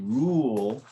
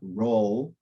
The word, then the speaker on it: rule: when you really right it's a silent e so when the the E is is by itself hanging at the end after a consonant it is almost always silent and it's an indication that it's not roll which would be a closed U but that it's Rule and open you so the silent E uh is to help us guide us but it's not pronounced and oh and a 116.